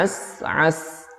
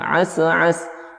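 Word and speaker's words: عسعس: Nah, as'as, sin yang pertama itu bersukun ya, tahan dulu, jangan langsung dilepas, jangan as'as.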